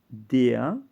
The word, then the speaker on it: der: Aquí tienes der, es masculino, singular definido y se pronuncia aquí como una A. Der.